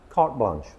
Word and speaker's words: carte blanche: No. Cart blanch. Cart blanch. We don't pronounce the e at the ends.